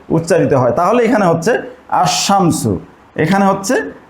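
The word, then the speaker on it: الشمس: হয় তাহলে এখানে হচ্ছে আশামসু এখানে হচ্ছে আশামসু লামটার উচ্চারণ হচ্ছে না এই হরফ গুলোকে বলা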